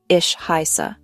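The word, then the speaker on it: ich heiße: The pronunciation is ishisa. The h in iick is a soft sound made in the back of your throat, not a hard k sound.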